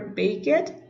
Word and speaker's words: baked: Here we have the action were baked. Baked baked. Remember when you have a K, you have to pronounce the E as T.